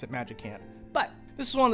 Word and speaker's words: Magicant: the screen, which is great for things like Magicant here, or Magicant. I know that most of the internet likes to pronounce it Magicant.